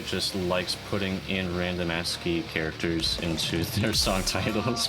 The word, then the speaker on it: ASCII: I mean, that's how you pronounce it. Yeah, it is. Bruh. If you think about it. It's ASCII.